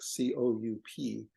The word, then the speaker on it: coup: It was to whack them with a stick, and it was called a coup stick, C-O-U-P, which of course doesn't pronounce the P because it's a French word that they would say coup, and English would say coup.